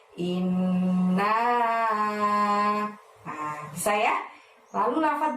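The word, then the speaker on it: إِنَّا: ke-1 dimulai dengan lafaz inna. Nah, innya ditahan dan ditekan selama 2 harokat ya, karena ada nun tasydid di situ. Kemudian naknya panjangnya 5. Nah, seperti itu. Jadi membacanya inna.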